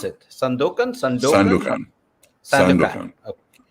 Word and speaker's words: Sandokan: Sandokan. Okay. Sandokan in Italian, but Sandokan in English.